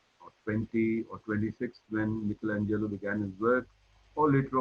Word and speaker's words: Michelangelo: You might have heard of him pronounced as Michelangelo, but in Italy they pronounce his name as Michelangelo.